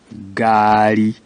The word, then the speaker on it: ngaari: And when it is used for letter G, the sound becomes harder than the first one where there was no N. You remember guka. Now it's nga, gari.